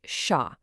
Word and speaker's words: 杀: It's pronounced sha and its meaning is very direct, very stark, to kill, to end a life.